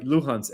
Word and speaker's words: Luhansk: I hope I pronounce them right. Luhansk, l u h a n s k.